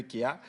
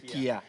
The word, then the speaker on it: chia: Voilà, du grain de chia. Chia, tu dis Kia. Non, en fait, la bonne prononciation, c'est Kia.